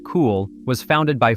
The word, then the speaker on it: Cuil: Cuil, pronounced Cool, was founded by 4